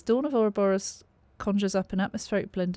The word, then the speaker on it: Ouroboros: Now I had to look at a few interviews online to make sure I was pronouncing that right. Ouroboros.